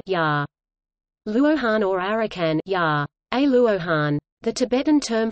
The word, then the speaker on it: 阿羅漢: In Japanese the pronunciation of the same Chinese characters is rakan ya. Luohan or arakan ya.